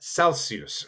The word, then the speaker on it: Celsius: just like anywhere else it's Celsius Celsius but Celsius so you just kind of pronounce it with that German oo but it's s there's no